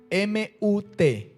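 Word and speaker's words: מות: morirás en el hebreo se encuentra así mud m ut y tiene un acento en la u mut m ut Esa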